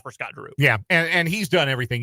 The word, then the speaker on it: Scott Drew: Does his name rhyme with Snot Boo? It does. It does. Mitch Barnhart, according to the streets, the rumor mill, loves Scott Drew.